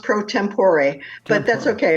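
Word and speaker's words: pro tempore: you're the president if I'm pronouncing it right Pro tempor right it's actually pronounced prot tempor but that's okay it's just a Latin Latin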